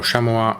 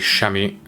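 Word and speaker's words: chamois: care of and yeah, little Shamoy or Shamoa. I really don't remember. I believe the English are using the French pronunciation. I believe the Americans are calling it Shami. I might as well just call it Shami, I suppose.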